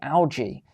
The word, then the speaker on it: algae: Alongside cultured meat, she offers jellyfish, this is what you're going to be eating, seaweed, and algae, or as the Americans say, algae, sometimes fresh and mostly dried and prepared on-site and sold as pasta, flakes, and powders.